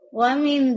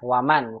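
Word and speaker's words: ومن: Wamin zalika. Waman, bukan wamin.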